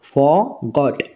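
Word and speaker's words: forgot: হবে না ঠিক আছে আর এর উচ্চারণ এখানে হবে না ক্লিয়ার আমরা কিভাবে উচ্চারণ করবো ফরগট ফরগট আই ফরগট মানে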